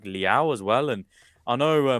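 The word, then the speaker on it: Leão: off the bench, they've got options like Leao as well. And I know myself and I believe it's Zeke- Leao, just to correct your Leao, okay, fine.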